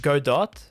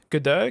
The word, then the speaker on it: Godot: godot good though because someone in the comments was like you don't meant to pronounce it as godot like good day you're not meant to pronounce it as that it's godo godoh that doesn't roll off